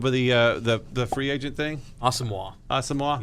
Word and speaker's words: Asamoah: Asamoah? Yes. That's how you pronounce that?